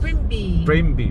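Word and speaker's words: Primbee: BM day sorry Mig bmby how do you pronounce that your m brm Prim B Prim B it's p r i m b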